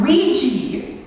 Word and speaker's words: Ouija: It's pronounced Ouija.